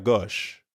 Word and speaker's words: gauche: Notice that the O sound in gauche is the same as in au revoir, or in the English word story.